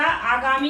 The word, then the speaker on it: आगामी: आगामी नहीं होता, आगामी होता है।